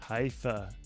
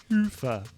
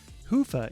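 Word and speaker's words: Hyvä: Commerce is sponsored by hia or as the Europeans say hofa or the right way to say it hoofa is rapidly becoming the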